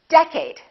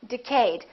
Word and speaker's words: decade: did you say decade is it first syllable or second syllable well it's the first one it's decade repeat in the next decade a lot of people make a mistake and they say decayed let's take a look